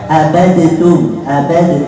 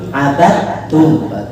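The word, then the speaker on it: عبدتم: Tidak boleh bacanya abadtum, tapi abadtum.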